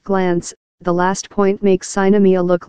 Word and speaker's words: Sinemia: Best I can figure out, it's pronounced Sinemia.